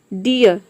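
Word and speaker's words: dear: हो रहा है डीयर आप चाहे तो आर को साइलेंट रख सकते हैं आपका प्रोनंसिएशन करेक्ट होगा या फिर आर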